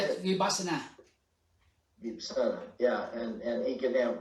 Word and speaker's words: Vipassana: Vipassana, yeah, and he can have understanding and truth too.